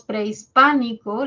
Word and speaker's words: prehispánico: Luego tenemos prehispánico, la sílaba tónica está en pa, entonces quiere decir que la E y la I forman un diptongo, preis, ¿no? No es la I la que tiene la mayor fuerza de voz, es la E.